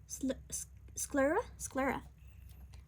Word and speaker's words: sclera: It's called, how to pronounce it? Sclera.